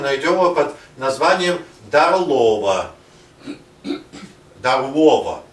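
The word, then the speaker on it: Darłowo: Дарлова, произносят поляки.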